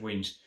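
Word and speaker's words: Wemyss: i say pronounce it it looks like wemis but i'm pretty sure it's wings um you can basically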